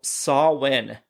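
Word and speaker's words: Samhain: Uh, for a festival called Sawin. Mhm. And that is H A M H A I N, but obviously pronounced Saw Sawin.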